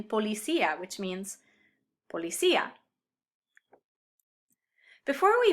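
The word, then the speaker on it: policía: be pronounced separately well i can use an accent to break up a diphthong like in pua which means spur or in policia which means policia before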